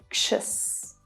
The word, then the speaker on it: anxious: So you're pushing that air through your mouth to make the sound. Ksh. Make sure you exaggerate this sound while you're practicing. Pretend you're like a superhero fighting a monster. Ksh, ksh, ksh. And the following vowel sound will be unstressed, the weak schwa sound. Us, anxious, anxious, anxious.